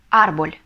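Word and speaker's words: árbol: и следующее слово дерево арбуль или арбуль ударение мы ставим ставим ударение на первый слог Потому что если не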